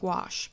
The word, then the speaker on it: gouache: commercially produced product that scribes use is called gouache that's spelled G o u ACH II it's similar